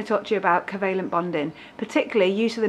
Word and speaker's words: covalent: Quite a lot of you accidentally call it convalent. There is no N in that word. It is definitely covalent, like coconuts, covalent.